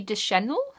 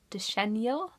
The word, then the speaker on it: Deschanel: amazing and beautiful Zoe Deschanel de Chenille so I can never pronounce names properly so apologies for that but I feel like it's Deschanel okay I hope so I'm